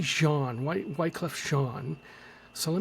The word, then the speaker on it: Jean: they're from uh Haitian that's French so it's probably Jean why Wyclef Jean so